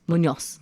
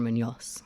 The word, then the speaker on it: Munoz: The last name is just like Munoz. Munoz. Yeah. By Munoz.